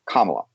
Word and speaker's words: Kamala: and she tells me the way you you you say her name is kamala think like comma i was very impressed